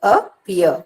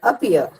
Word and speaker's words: appear: Appear, appear. The first syllable is not at all pronounced with force. The second is pronounced with force.